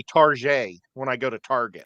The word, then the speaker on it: Target: Target on the side people say Target to make it sound fancy it's Target people you're going to a glorified Walmart yeah well they got a better toy selection well no we have people here that seriously say Tarjay to make it sound like they're going to not a place that's like a Walmart I hear people say